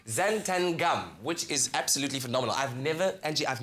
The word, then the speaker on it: xanthan gum: a look at it you can either go talent and gum or you could say it like it's supposed to be said xanthan gum which is absolutely phenomenal